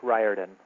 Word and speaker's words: Riordan: Hi, my name is Rick Riordan. Long I, like in rye bread.